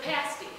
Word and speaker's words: pasty: So, the pasty. It rhymes with nasty, but it's not.